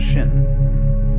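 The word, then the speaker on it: 心: my mind in chinese mind is um this word pronounced shin and shin is here shin is the heart mind it's the psychic center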